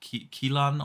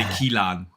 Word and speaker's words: Kiln: their small passion project, Kilan, or what? Kiln, yeah. Is that how you pronounce it? Yeah. Kiln? Kiln. Kiln. Kiln. Kiln. Okay. I would have pronounced it differently. In Germany, we would say Kilan, you know.